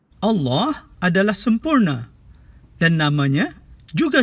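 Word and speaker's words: الله: betul adalah elll dan sebutan yang lebih tepat adalah Allah bunyi a disebut dengan dua harkat dan tidak boleh dipendekkan ke satu harkat jadi kita kena jaga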